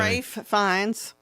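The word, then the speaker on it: Ralph Fiennes: Rafe Fines. I know it looks just like Ralph and I don't know why they I think.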